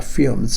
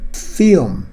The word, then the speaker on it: film: 저 발음은 film, L 발음이 거의 틀리지 않습니다. 자, 기본적으로 L 발음은 두 가지가 있는데요. clean L 사운드가 있고 dark L 사운드가 있습니다. 예를 든다면 driver's license, 확실히 L이 틀리죠. lion, liability, liberty. 자, 그렇지만은 L이 중간에 있다든지 뒤에 있을 경우에는 거의 틀리지 않을 정도로 그렇게 발음을 합니다. 그래서 milk, film 그렇게 발음하는 것입니다.